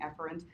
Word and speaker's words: efferent: you learn two words the word a parent or a parent which is how I pronounce it so you can hear the difference it's actually afferent and efferent but I twing it up and say a parent and a parent so